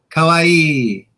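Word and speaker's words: かわいい: Yes, Rhymes with Hawaii, but the emphasis is a little different. Kawaii.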